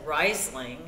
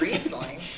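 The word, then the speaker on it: Riesling: dollar for every time somebody said risling instead of reing and of course nobody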